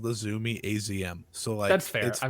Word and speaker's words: Azumi: You say it Azumi.